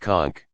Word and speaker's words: conch: held a large shell usually a conch pronounced conch sounds like waves crashing against